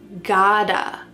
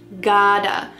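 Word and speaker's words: gotta: What's happening with the pronunciation? That t is changing to a d.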